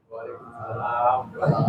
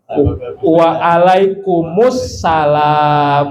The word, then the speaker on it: waalaikumussalam: Pakai waalaikumussalam karena awalnya salamnya pakai alif lam assalam. Jadi jawabnya harus waalaikum assalam sebenarnya. Jadi waalaikumussalam. Kalau dibacanya waalaikumsalam tulisannya menjadi waalaikum salamun. Ya. Agar dibaca benar. Waalaikumus salam. Waalaikum assalam. Kan begitu.